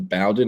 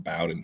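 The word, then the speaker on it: Bowdon: The Bowdoin is in Georgia. It's spelled the same way, except there's no I at the end. And that's where Caden Prothro, the top 247 tight end, is from, Bowdoin, Georgia.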